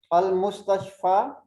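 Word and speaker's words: المستشفى: Note that the ya which is pronounced alif has no dots. If there is a ya without the dots, we will pronounce it alif. Al-Mustashfa. This ya don't have dots, so we will pronounce it alif. Al-Mustashfa. We cannot pronounce it ya.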